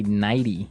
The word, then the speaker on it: nightie: You say nighty. Yeah. You you make the t a d.